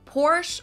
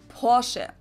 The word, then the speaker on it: Porsche: heard Americans pronounce it Porsche or Porsche in German we say por so there's like this short a sound in the end por it was founded